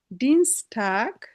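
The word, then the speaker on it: Dienstag: জোনটাগ, জোনটাগ, মন্টাগ, ডিনস্টাগ। তো এখানেও আমার এরকম যদি থাকে তখন আমরা ই পড়বো, ই। এর জন্য ডি, ডিনস্টাগ।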